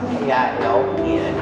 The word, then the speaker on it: kiln: oven called the kiln, and spelled K-I-L-N, and you can pronounce it kiln or kiln.